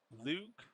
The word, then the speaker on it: Luke: He says, "Luke rhymes with Duke."